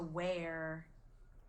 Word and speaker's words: wear: different sweatshirts every day where spelled again with that ear does it sound like earth heart or bear or here or ear yeah it smells like it sounds like bear and let's try one